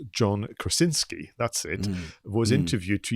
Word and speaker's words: Krasinski: where the the director i'm gonna try and pronounce his name properly like john krasinski that's it was interviewed to even do a